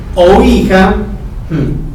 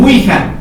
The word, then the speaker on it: ouija: la palabra o hija que como se pronuncia o hija dice imagina que significa hija porque así se pronuncia algo dicen ouija es una completa barbaridad porque distorsionan el concepto